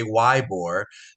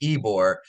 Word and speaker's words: Ybor: well history of all history wise Tampa and ebore City U it's pronounced ebore for those that come visit I know I got a lot of people that say wbore but it's pronounced ebore is a is an amazing maybe the best